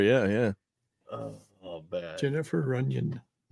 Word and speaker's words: Runyon: Jennifer Runyon. Runyon. Oh, yes. Rhymes with onion.